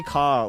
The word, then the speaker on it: car: you hear car so at the end of the word you can hear there that it's an open Sound C A almost like there isn't an R there it's very open and